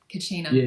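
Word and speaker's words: Kachina: I think they call it Kacina cuz they talk about the return of I'm probably not saying it right. Kacina, the blue star prophecy.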